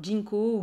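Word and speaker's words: ginkgo: hein le le alors Jinko ou Ginko comme vous voulez vous le prononcez comme vous avez envie et moi je suis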